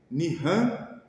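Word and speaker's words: נחם: Mal Isto é arrepender-se o verbo Nian se escreve nihan em hebraico mas se ler Nian tem um aspecto emocional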